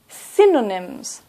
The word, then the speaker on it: synonyms: And a thesaurus is a dictionary of synonyms. Synonyms. Stress at the beginning.